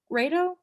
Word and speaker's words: Rado: with kindness by ruthie rado rado rhymes with play-doh radio yeah uh great